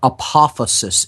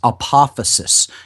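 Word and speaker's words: apophasis: okay we looked into the concept of what apophysis is that's spelled a-p-o-p-h-a-s-i-s apophysis you can go back into the shows where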